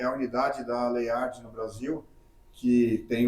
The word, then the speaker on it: Leyard: É Leard ou Leayard? É, muita gente fala layard. A gente tem o hábito de falar Leiard, é um nome realmente asiático e Leiard é o a pronúncia mais comum que a gente mais usa.